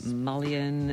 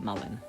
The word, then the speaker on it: mullein: things to clarify is how you actually pronounce this now I went online and looked at tons of videos and people were saying Malian and malign but apparently you do actually call it Mullen um other benefits of